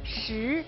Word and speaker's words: 食: Food character in Chinese is pronounced 食.